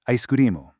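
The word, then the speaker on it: アイスクリーム: Ice cream becomes aisukurimu. You know, it stretches out a bit, but the core is exactly the same.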